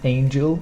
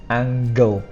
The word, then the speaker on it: angle: so phase and then angle not Angel this is angle so we pronounce this